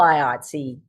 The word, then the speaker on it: IATSE: Or is this going to be all IATSE? That's the correct pronunciation of that acronym, right?